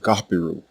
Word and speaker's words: Apiru: You will see this normalized as Apiru in English, because English does not have this letter or its equivalent sound. But what it sounded like when native Egyptians pronounced it was more like Gapiru.